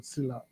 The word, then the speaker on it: Sillla: Sila in general okay so my name is Sila so my my my my English name is